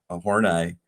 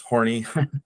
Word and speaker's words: Horney: the work of Karen Horney, which for people out there, sometimes it looks like or it gets pronounced horny.